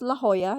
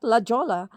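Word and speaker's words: La Jolla: our first stop is La Hoya Cove. Yes, it's pronounced as La Hoya, not Lajola, which is 40 minutes drive from our uncle's place.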